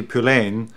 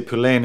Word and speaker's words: Poullain: Poulain and the reason I say Poulain is because there was anything that weird rhyme with this is eddie greyham Eddie Graham so we changed the pronunciation of EDS name the drummer and my name let's go along starts fellow